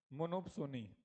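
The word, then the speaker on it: monopsony: चलो अगला लिखो, मोनोपसोनी। पी साइलेंट है यहाँ पर। मोनोसोनी या मोनोपसोनी। बताओ इस मार्केट में क्या होगा?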